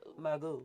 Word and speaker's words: Margeaux: EAUX is O. Margeaux. Margeaux.